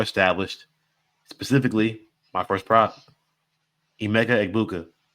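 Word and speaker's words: Emeka Egbuka: Specifically, my first prop, Emega Ibuka. That's how you say his name, guys. I don't know how the Gron was saying. Beckbu.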